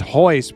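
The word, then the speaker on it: Royce: It's like Roy, but they pronounce it hoist.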